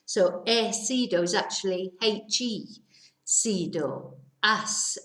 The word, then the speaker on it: he sido: So he sido is actually he, sido, as sido, has. But because we don't pronounce the H, we just miss that out completely.